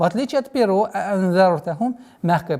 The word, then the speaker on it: أَأَنذَرْتَهُمْ: Саваун алейхим аанзартахум. Две буквы хамзы нужны четкие, полные, ясное произношение. Аанзартахум нет. а'анзартахум. И здесь применяем сокрытие в размере двух огласовок.